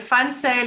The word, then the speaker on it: Van Zyl: And Funsale is spelled V-A-N-Z-Y-L, but you pronounce it with an F-U-N, like fun.